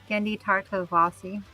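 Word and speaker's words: Genndy Tartakovsky: How do you pronounce that, Kayla? Gendi Tartovasi.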